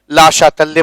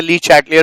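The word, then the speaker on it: Le Chatelier: ठीक है, ला शातल्य प्रिंसिपल कहते हैं, लिखते ली चैटलियर प्रिंसिपल है। ठीक है ना, हम लोग लिखते जरूर ली चैटलियर है, लेकिन इसका सही प्रोनाउंसिएशन जो है ला शातल्य, है ना, प्रिंसिपल है।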